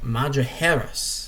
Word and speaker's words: Madrigueras: Madrigueras. Or is it, no, Madrigueras. That's how you say it. The G and the J are like H's in Spanish.